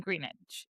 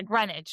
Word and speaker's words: Greenwich: And then he gets invited to like their boating outing in Greenidge or I don't know, I might be saying it wrong, but and they're just going on their maybe. Yeah, Greenwich.